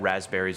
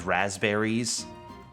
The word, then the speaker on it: raspberries: I always thought it was two Z's because of the way that I pronounced it as a kid. I thought it was raspberries, but no, it's raspberries, and I'm like, oh.